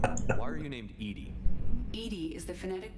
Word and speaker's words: EDI: a jar why are you named edie edie is the phonetic pronunciation of edi that is an acronym for